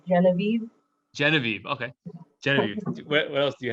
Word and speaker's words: Genevieve: wrap up if anyone doesn't have anything else geneve is that how do you say your name say your name for me it's genevieve genevieve okay what else do you have do you